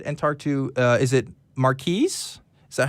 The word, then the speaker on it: Marquis: So while I get to that, let's go ahead and talk to, is it Marquis? Is that how you pronounce your name?